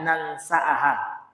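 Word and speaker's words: ننسأها: Pak wal hamzata dan huruf hamzahnya setelah sin difathahkan juga. Jadi nansa ya. Famaknaha famnahu maka maknanya bada sin ya hamzah setelah sin ini. Jadi dibaca nansaha. Jadi nunnya difathahkan, hamzahnya difathahkan juga cara membacanya.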